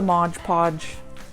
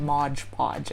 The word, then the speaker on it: Mod Podge: It's Mod Podge. I guess it's just easier to rhyme it. So if you were shaking your head if I said Mod Podge, I know the proper way to say it.